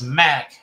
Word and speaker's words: MC: Let's see, my grandson, MC, pronounced Mac, is 15 today.